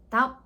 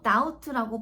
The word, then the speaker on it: doubt: 자, 이 친구 발음 주의하세요. 중간에 비무급입니다. doubt 아니고 doubt라고 발음해 주셔야 된다는 거.